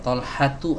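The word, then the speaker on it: طلحة: Gimana cara membacanya? Tolhatu atau Tolhatun? Berdasarkan kaidah ini maka kita baca namanya adalah Tolhatu, tidak boleh ditanwinkan.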